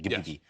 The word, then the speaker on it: Ghibli: The correct pronunciation, Ghibli.